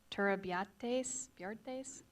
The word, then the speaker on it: Turrubiartes: Our next speaker is Turabiates from the town of Guadalupe. Very well pronounced there, Thanks.